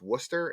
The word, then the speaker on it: Worcester: The It's I'm told it's pronounced Worooster. It's spelled like Warchester, but it's spelled Yeah, it's Worcester. Woo. Worooster.